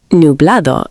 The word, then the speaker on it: Nublado: Nublado sounds like new blah dough.